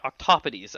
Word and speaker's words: octopodes: Octopodes actually would be the proper pronunciation. I've learned something today. Yeah, because it's Greek, I believe, or something, and the pluralization in Greek is not octopi; it would be octopodes.